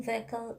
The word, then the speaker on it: vehicle: is this one but when we are telling vehicle h is silent another word like ghost